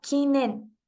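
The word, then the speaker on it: 禁煙: kanji que significa prohibición pasa a pronunciarse completamente en su lectura china que es en y de esta manera se compone la palabra kinen prohibido fumar esto eh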